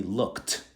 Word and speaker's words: looked: To pronounce it, we say looked, looked, looked.